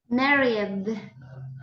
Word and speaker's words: married: dated and this one married all right in this case imagine that the E is not there married married that is the